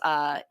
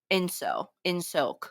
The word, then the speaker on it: Ingsoc: So there's this thing in the background that says Igsor Igcor. I don't know how they pronounce it. Encore. Oh, it's ins. I'm saying it so wrong. It's INGSOC. Insoc or anything like that.